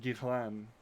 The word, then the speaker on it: Ghislaine: somebody say call it no it's gizlane it's gazlane yeah i know that's why uh that's why i've heard it i just heard somebody pronounce it gitlan that's probably yeah the french pronunciation anyway yeah uh giselane